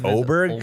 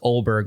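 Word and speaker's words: Åberg: happened this year like um ludvig is it oberg cuz the announcers were saying oberg well it's it's it's pronounced olberg it's a b e RG but the uh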